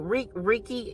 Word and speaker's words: Reiki: through song, whether that be a healer through Reiki. Is that how you pronounce it? Reiki? It's pronounced Reiki.